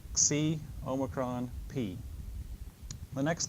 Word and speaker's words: Omicron: be like ocean and this is the Oh like in the word note in English shorter a little bit shorter again that distinction is not made but we pronounce it as Omicron so like logos this